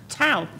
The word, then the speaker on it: Tow: the is a tower toe Tau Tau we won't remove your car and we and we rhyme with cow yes but we used